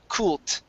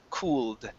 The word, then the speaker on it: cooled: So here you actually said kult, and you pronounce the ED like a D when it should sound like this, cooled.